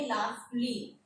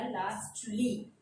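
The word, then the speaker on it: lastly: इसको हम पढ़ेंगे लास्टली, मोस्टली, सॉफ्टली, जस्टली। इनको हम बिल्कुल भी इग्नोर नहीं कर सकते या म्यूट नहीं कर सकते। यहाँ लाजमी टी बोला जाएगा, लास्टली।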